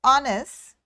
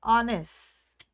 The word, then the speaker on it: honest: hearing the o sound honest so this h is silent so i'm saying the